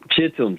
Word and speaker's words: Shittim: Is that how it's pronounced? Shittims, yes.